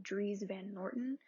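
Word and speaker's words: Dries Van Noten: But I feel like, I believe it is pronounced Dries Van Norton.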